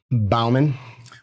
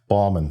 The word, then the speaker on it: Baumann: You say Bowman. Balman. Balman. Balman. No, there's no O. It's B. commonly mispronounced even by our own family.